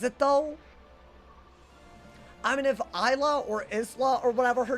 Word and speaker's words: Isla: The S is silent.